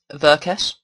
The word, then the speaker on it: Verques: So, matched by um Veress. Um I know it's pronounced that way cuz it's like EverQuest but without the E and the T because he was a big fan of that.